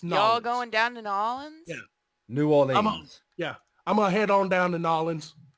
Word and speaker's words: New Orleans: It's Nolans. Oh, Nolans? It's Nolans. Y'all going down to Nolans?